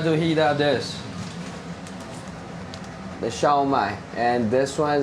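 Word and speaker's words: 烧卖: It's called Shu Mai, but it's in Mandarin it's called Xiao Mai.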